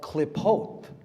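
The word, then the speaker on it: Qlippoth: It's called klipot, klipotic Kabbalah. Look up the klipot. It's spelled Q-L-I-P-P-O-T-H.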